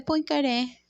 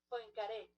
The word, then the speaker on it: Poincaré: Ay, cónchale. Él es francés, por supuesto. Henry Poincaré. Henry Poincaré. Poincaré. Poincaré. Ok, francés. Francés, chino, a veces F, francés.